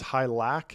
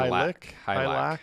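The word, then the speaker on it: Hylak: And we mispronounced his name. It's Hylac instead of Hylic. Hylac.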